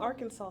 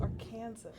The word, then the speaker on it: Arkansas: It's not Arkansas. It's Arkansas.